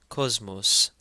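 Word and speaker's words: ⲕⲟⲥⲙⲟⲥ: Cosmos. And again because the first sema in the word is followed by a may it takes a z sound.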